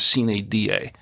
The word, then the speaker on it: sine die: Some people call it sine die, or whatever. It's as I understand it, the actual pronunciation is sine die. It's a Latin term.